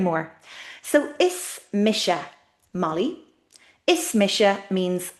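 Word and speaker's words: Is mise: Ismisha means it's me.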